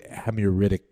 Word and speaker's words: Hammurabi: What you're saying is that, of course, there's resonance with the Hammurabic code, right?